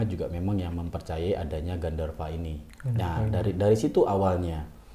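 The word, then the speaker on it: गन्धर्व: Ya jadi dari bahasa sebenarnya dari bahasa Sanskerta yaitu Gandarwa. Kayak kalau V itu ya, jadi W dan V itu kan dibacanya ini ya. Jadi Gandarwa.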